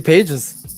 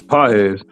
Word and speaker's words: Pages: I've been calling him Andy Pages. Yeah, but a lot of audience might not know who it is. And the way his real the way his name is pronounced is Paez.